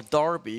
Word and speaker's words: Derby: uh can conquer uh Derby or Darby because apparently this e supposed to be pronounced like an a for some goddamn reason